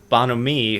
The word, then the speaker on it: bonhomie: It is bonhomie, but it's spelled like bon homie, like the B-O-N and then homie.